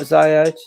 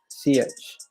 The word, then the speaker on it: Ziyech: Now, it's not Ziyech, it's pronounced Ziyech. I know it's Hakim Ziyech.